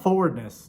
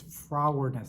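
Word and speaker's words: frowardness: pronouncing it right and it's not forward miss its frog weirdness there's an arm from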